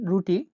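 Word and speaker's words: را: পরেরটা হলো র বা রা। র বা রা উচ্চারণ র এর মতো হয়ে থাকে।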